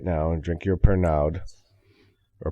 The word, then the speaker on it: Pernod: now and drink your Pernod. Or Pernod, however they say And then Yeah, you don't pronounce anything in words. You pronounce half the word.